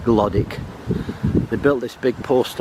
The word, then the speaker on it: Glodwick: It's spelt Glodwick, it's pronounced Glodwick.